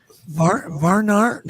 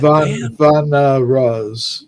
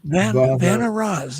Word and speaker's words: Vanaras: I don't even know how to pronounce it. Varnar? How do you say that? Vanaras. Vanaras.